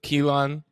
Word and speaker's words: Keelan: yo before we keep going how do you pronounce your name kelen Kean uh K like to the land yeah that's